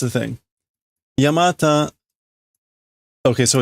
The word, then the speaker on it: Yamata: branching big snake oh I'm sorry it's not Yamato it's not Yamato it's yamata my bad I was connecting the wrong dots yamata um oh okay no it's a thing it's a thing yamata okay so it's normally pronounced yamata yeah no